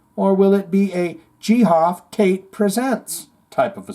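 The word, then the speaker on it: Geoff: for about 1 second GI off pronounced gof off Tate is it really ghof cuz now I feel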